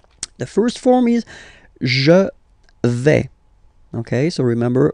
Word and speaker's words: vais: The first form is je vais. Okay, so remember, final S not pronounced here. Je vais. Okay, when you combine this A-I, you get the sound est, really open, ok?